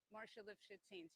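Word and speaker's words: Marcia Lifshitz Haines: Okay, and how's it pronounced again? Marcia Lifshitz Haynes.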